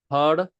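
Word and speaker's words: હળદર: It's pronounced hardar. That L in hardar is a funny L. We're going to flip our tongue upside down.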